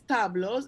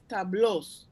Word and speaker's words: tablos: No es tablos, es tablos. Ah, tablos. Like the accent on the blows? Tablos, meaning paintings. Tableau from French word.